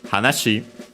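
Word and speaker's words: 話し: so the corresponding noun hashi uh should be accent on the last syllable.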